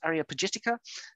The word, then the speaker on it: Areopagitica: collections, and it's the, I'll try and pronounce this, Areopagitica. I haven't done that very well. Areopagitica, yeah. Milton, John Milton's Areopagitica, that's better.